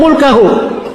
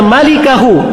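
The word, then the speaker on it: ملكه: Dia membacanya sebagai "mulkahu." Bacaan yang benar adalah "malikahu," bukan "mulkahu." "Malikahu" dan "mulkahu" memiliki arti yang berbeda.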